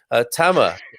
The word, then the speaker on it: Tamer: Tama. I called him Hammer because it rhymes. This is how to remember his name.